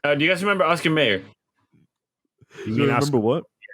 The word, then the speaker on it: Mayer: But because of that, like I'm intentionally pronouncing it Mayer because a lot of people MEYER. think it's spelled Meyer, where it's MAY.